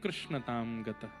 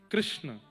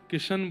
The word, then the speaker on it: कृष्ण: नाम कृष्ण रखा गया कृष्ण इस शब्द का उच्चारण कई लोग शुद्ध नहीं करते क्योंकि शुद्ध कर लेंगे तो फिर भगवत प्राप्ति हो जाएगी इसलिए सब लोग इस नाम को कोई किशन बोलता है कोई कृष्ण बोलता है कोई कुछ बोलता है